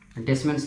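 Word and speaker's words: Descemet: डेसम्स layer T silent रहता है डेसिममेंट्स पढ़ते है डेसममेंस लेयर ठीक है ना तो चौथा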